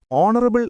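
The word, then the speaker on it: honourable: no article answer B ആൻ ഓണറബിൾ എന്ന വാക്ക് തുടങ്ങുന്നത് എച്ച് എന്ന അക്ഷരത്തിൽ ആണെങ്കിലും ഉച്ചാരണം ഓ വവൽ സൗണ്ട് ആയതിനാലാണ് ആൻ വരുന്നത് ഐസോ ഡാഷ് യൂറോപ്യൻ ഇൻ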